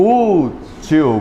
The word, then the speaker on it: útil: Útil. Qual é a mais forte? U.